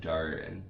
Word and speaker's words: Djarin: So I always want to go the other way around for some reason, Din Djarin, because of the D and whatever. Yeah. The D is silent.